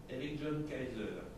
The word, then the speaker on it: Eric John Kaiser: Eligion Kaiser.